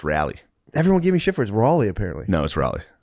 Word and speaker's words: Raleigh: It's pronounced rally.